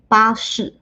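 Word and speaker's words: 巴士: As you can see, the first way is basically a translation of the pronunciation of bus in English. 巴士.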